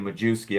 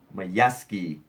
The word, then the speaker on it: Majewski: it's similar to that I was saying Majewski I'm sorry that's such that's a that's a total like layman's pronouncing layman layman's pronunciation my yes key my bad Steve